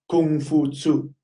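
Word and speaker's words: Kong Fuzi: Confucius is actually Kung Fu Tzu.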